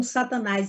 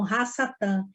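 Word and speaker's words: השטן: o povo de Israel eles não pronunciam Satanás eles falam raça TAM e as todas a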